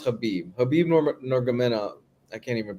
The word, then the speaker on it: Khabib: Where the fuck is I'm thinking of Khabib. Well, it's pronounced Habib.